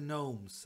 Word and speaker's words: gnomes: I like wordplay and I like the fact that the G is silent I like the kind